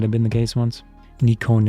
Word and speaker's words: Nikon: been the case once Nikon is the Japanese pronunciation from Katakana generally I said I say it Nikon Negan so they're oh in